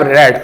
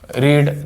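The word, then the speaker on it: read: form क्या होती है रीड थर्ड फॉर्म क्या होती है इसकी रीड अब ये रीड होता है इसका उच्चारण रीड इसका उच्चारण रेड और इसका उच्चारण रेड स्पेलिंग सेम है पर उच्चारण अलग है रीड रेड रेड अब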